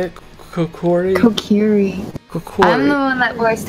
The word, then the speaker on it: Kokiri: I am part Kokori. Is that how you say it? Kokori? Kokiri.